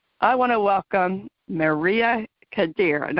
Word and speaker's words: Khader: I want to welcome Maria Khader, and I hope I pronounced your name right. Khader? Yes, that is correct.